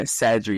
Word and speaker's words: Sadri: A lot of people know you as Sadri. Is that the right pronunciation? Yeah, you got it. Yeah, Sadri.